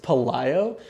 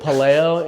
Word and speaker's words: Pelayo: It's funny because it's pronounced Pelayo, but because West Side pronounced it Palayo and size 42, everybody just assumed that it's pronounced Palayo.